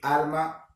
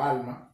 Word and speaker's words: arma: Arma, con R, no alma, por si acaso lo he pronunciado mal.